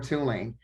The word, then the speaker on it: Tulane: They asked how to pronounce the name of the school, if it's Tulane or Tulane. I say Tulane.